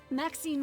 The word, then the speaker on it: Maxine: Maxine rhymes with queen after all.